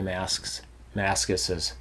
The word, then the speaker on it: Mascis: That's a hard way to say. Jay Mascis's. Jay Mascis. It sounds like you're saying it wrong. It's weird. That's like that word wasp. Yeah. Say wasp, the plural of wasps. Wasps. It's the weirdest thing. You want to add 5 S's to it.